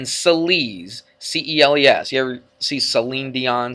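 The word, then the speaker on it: Céline: so um but anyway she spells her name c-e-l and it sounds like an S there doesn't it Celine so um write it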